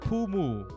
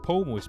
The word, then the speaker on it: Pomu: mispronounce it like pomo that's not pumu it's pomo's p-o-m-u right pomo it's crying but her